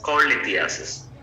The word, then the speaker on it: cholelithiasis: Its correct pronunciation is cholelithiasis.